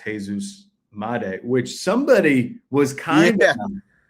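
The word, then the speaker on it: Jesús Made: It was it was what miday right?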